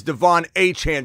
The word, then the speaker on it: Achane: is the one who knocks his name is Devon Anan say it right say it proper 10 carries